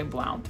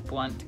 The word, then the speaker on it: Blount: Blount County Blount County a lot of times people say Blount it's Blunt County I'm just saying it